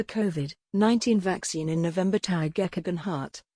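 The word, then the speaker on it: Tao Geoghegan Hart: trial of a kovid 19 vaccine in november tag echogen heart tai o gay jen hart the british born professional cyclist who won the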